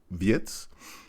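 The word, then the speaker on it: Wirtz: sort of understudy for Vietz. Uh yes, I am saying it in that way because I believe that is how it should be pronounced.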